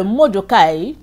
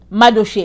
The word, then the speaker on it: Mardochée: Il raconte à sa femme que Mordekai, alors, il va pendre Mordekai. Mardochée, excusez-moi, je l'ai prononcé en anglais.